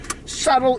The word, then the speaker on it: subtle: the word subtle fight does subtle have a b in it s-u-b-t-l-e but you don't pronounce the b well so i even have the b in the letter the damn word subtle e-bagging subtle that's english